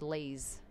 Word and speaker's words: Lise: By the way, his name is John, and my mum's name is Lise, as in please, but it's spelt L-I-S-E, but it's please, Lise.